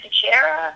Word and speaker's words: Dichiera: Am I pronouncing your name right there, Melisa? Yeah, Dichiera. Dichiera.